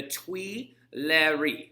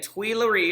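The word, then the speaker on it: Tuileries: to spell that this place is called the twi larry all right and tweelery is spelled t u i t-u-i-l-l-i-e-r-e-s all right so the twee larry this is where they were under house arrest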